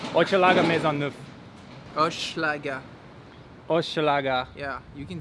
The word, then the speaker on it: Hochelaga-Maisonneuve: And how's my pronunciation? Hochelaga-Maisonneuve.